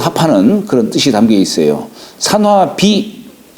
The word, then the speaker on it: 산화비: 그런 뜻이 담겨 있어요 산화비 본래 옥편에 이게 분이라고 나오는데 여기다 흙도 찾으면 무덤 분자 있잖아요에 무덤을 꾸미는 뜻이 여기 비라고 하는 꾸민다는 뜻이에요 꾸민다 그러나 음은 비라고 읽어요 산화비음 그다음에 산지박음 까끌 박자네